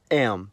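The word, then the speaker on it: м: In the cerillic context, the letter is called am.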